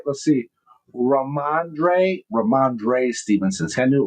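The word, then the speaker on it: Rhamondre: Uh uh Ramande Ram Stevenson. Did I say it right? Let's see. Ramandre Ramandre Stevenson.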